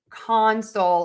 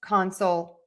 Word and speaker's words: console: So let's do the noun, stress syllable number 1. Console, console, console, console, console.